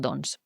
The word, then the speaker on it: doncs: castellà en comptes del doncs. Recordeu que quan diem doncs, la C normalment no es pronuncia.